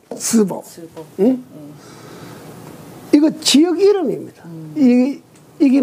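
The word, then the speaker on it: 淄博: 이건 중국 발음으로는 스보.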